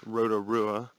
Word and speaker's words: Rotorua: it's awesome alright so I mispronounced it I was told just now by the lady that it's Rotorua and apparently I'm the only